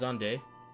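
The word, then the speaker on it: Xande: in facilitating xan's return zande actually isn't it pronounced zande zand's return Amon provided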